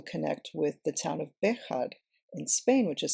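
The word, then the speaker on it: Béjar: um could also connect with the town of bead in Spain which is spelled with a j b b e j a r bead and it's near Portugal um and what we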